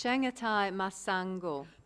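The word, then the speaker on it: Chengetai Masango: I can never pronounce this. Chengatai Masango.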